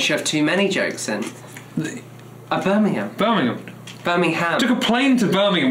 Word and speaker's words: Birmingham: You have to pronounce the ham, though. Birmingham. In fact, because I'm a Brummie, I would say Birmingham.